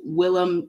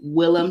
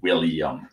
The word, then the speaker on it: Willem: I definitely thought it was pronounced William. Yeah. Yeah. And I don't know how. You know, he mispronounced his own name once on camera. I'm not surprised. He called himself William. Yeah, for everyone who thinks his name is William, it's not. Anyway, Richard Moore says Jim